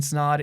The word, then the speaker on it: Snod: podcast my name is snod it rhymes with odd and we'll catch you